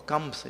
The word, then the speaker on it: Kansa: Kansa. 2 syllables. Kansa or Kamsa, if you want to say. Only 2 syllables.